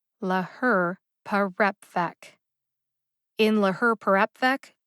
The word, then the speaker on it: laherparepvec: in la her perapvec two syllables get emphasized now i'm just gonna say it's really easy to see if you look at the written pronunciation in the show notes since you're listening to the audio however please note that the second syllable her gets the secondary emphasis and the fourth syllable rep gets the primary emphasis both syllables get emphasized